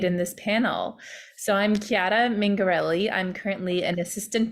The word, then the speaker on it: Chiara: Chiara, am I pronouncing your name correctly?